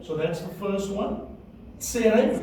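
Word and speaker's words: צֵירֵי: Tsere, would like to say it?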